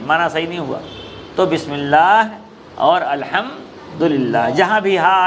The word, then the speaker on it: بسم اللہ: بسم اللہ نہیں، بسم اللہ تلفظ صحیح نہیں ہے، اس لیے ہا آخر میں ہے تو لازماً ہا آنا چاہیے، ورنہ معنی فاسد ہو جائے گا۔ ہاں بسم اللہ، ہاں نکلنا چاہیے۔ الحمدللہ، الحمدللہ، الحمدللہ کہہ